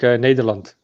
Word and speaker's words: Nederland: Nederlands. Because I don't say Netherlands. That's the English way. Netherlands. Neth. We as Dutch say it like Nederland.